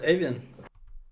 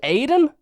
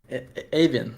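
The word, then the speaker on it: Eivind: Hello, my name is Avan. Your name is Aiden. Aven. It's a Norvian name.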